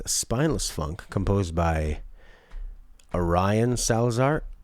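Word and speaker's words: Arion: spineless Funk composed by Orion Salazar or maybe Aaron but spelled like a douche a-r-i-o-n it is the founding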